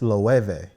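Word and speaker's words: Loewe: name huh you know i thought it's loueve the webex oh okay with the w the w it's a v it's a v that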